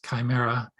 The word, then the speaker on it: chimera: is a chimera club what the heck is chimera and am i pronouncing it correctly yes you are a chimera